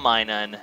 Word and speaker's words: Minun: game is uh and yeah myun good old Minun whose name I know now know how to pronounce properly that's true he was the first